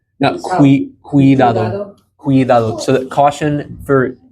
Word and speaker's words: cuidado: And there's that hard C sound, just like how we would have, think like cumin, like the seasoning cumin, cuidado. So that C carries the same pronunciation there.